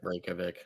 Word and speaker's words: Reykjavik: Reykjavik. Reykjavik. Yep, Reykjavik. I pronounced the J.